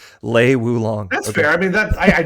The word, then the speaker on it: Lei Wulong: Because I always say Wei Wulong. Lei Wulong.